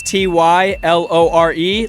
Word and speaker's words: Tylore: Yeah, so remind people of the socials, and then So my name is spelled Tylore. It's Tylore.